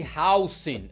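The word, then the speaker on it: Huijsen: E sim, rapaziada, o nome dele é complicado de falar, mas ele mesmo pediu para ser chamado de Housing. Essa é a pronúncia do cidadão.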